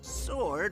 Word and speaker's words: sword: stored yeah that's it sword rhymes with stored easy to remember never